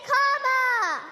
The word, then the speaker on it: Kamala: do you pronounce it first you say comma like a comma in a sentence then you say la like la la la